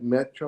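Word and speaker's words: Maîtres: that watch called uh it's spelled like make like m-a-i-t-r-e-s like metro metro do temps right okay maybe that's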